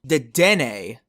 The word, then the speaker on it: Dedenne: Ew, wait, I should look up what Deden's pronunciation is. Dedenne.